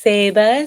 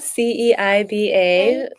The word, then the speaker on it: Ceiba: It's Ceiba, Ceiba, which is a type of tree.